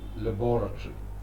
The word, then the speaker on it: laboratory: In Britain, you say laboratory, Laboratory, where you do experiments. In America, it's called laboratory, laboratory, laboratory. The accent is on the second last syllable, to, laboratory.